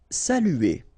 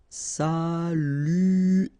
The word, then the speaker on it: saluer: Saluer. Okay, it can be quite difficult at the beginning. U here, saluer, saluer, saluer.